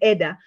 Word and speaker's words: eda: I found out when I interviewed these women, there's a lot of confusion, for example, on, in Swahili, we call it Eda. I think it's pronounced Ida here, yeah?